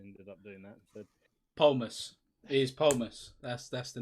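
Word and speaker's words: Polemos: Polmus. It is Polmus. That's the name. P-O is Pol and then M-O-S. I think I'm pronouncing that right.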